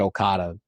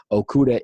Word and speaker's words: Okudah: for Ohio State, Jeffrey Okudah. But here he is, or is it Okada? Is it Okada or Okuda? I think you said it right the first time.